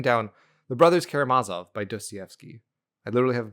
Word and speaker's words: Dostoevsky: I had written down The Brothers Karamazov by Dostoevsky. I literally have a pronunciation as a sticky note because I get it wrong every time.